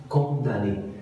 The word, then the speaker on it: condamné: déclic en 1829 alors faites attention condamné inscrit quand on a mené ça se prononce condamné alors il est décédé